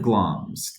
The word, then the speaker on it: Glamis: Hail to the Thane of Glamis. That's how that's usually pronounced, and that was the title that Macbeth had at the time.